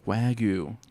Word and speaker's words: Wagyu: Am I pronouncing it correctly? Wagyu.